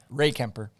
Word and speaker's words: Rehkemper: do that yeah yeah i'm sure ray kemper okay i was right it's one word it's not bobby ray it's ray kemper bobby ray camper hey